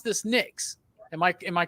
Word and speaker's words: Nyx: You pronounce this Nyx.